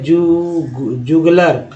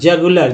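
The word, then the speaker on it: jugular: Next है जुगलर, ठीक है, सॉरी जगुलर, जगुलर, जी जग होता है ना, जगुलर।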